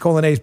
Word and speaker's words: Coglianese: Here's how you spell the last name, you know, with us Italians. It's Coglianese, okay? It's pronounced Colonnese, but Coglianese.